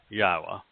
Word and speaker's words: Yahowah: God he wrote indeed because yahwah that's the proper pronunciation of the name of eloah God as directed by his